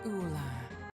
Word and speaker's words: Ullr: have dimitri saros and uhler how do you pronounce her name did she say my name is ula okay legendary cigarette is very stupid i agree ular okay i think blue